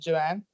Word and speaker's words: Joan: It's pronounced Joanne. Joanne.